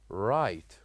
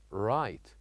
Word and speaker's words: right: And as you can see here we wrote the letter G and letter H, but we don't pronounce it. We say, directly we say, right, right.